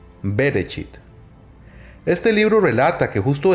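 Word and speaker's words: בראשית: biblia es el génesis que en su hebreo original significa en el principio y se pronuncia bereshit este libro relata que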